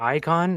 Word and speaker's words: Eyekon: uh tell me about Icon and and how did it come to be? Sorry, brother. I didn't catch that. Um, why don't you tell me about Icon? Is that how you say it?